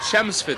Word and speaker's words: Chelmsford: And it is pronounced Chelmsford ladies and gentlemen the L is silent just in case you're interested.